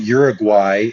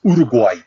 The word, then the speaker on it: Uruguay: And it's not Uruguay, it's Uruguay. Uruguay.